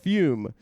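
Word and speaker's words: Füm: It's F-U with an umlaut M. Should I take my shirt off? Pronounced Fume is a flavored air device that helps people quit vaping or smoking.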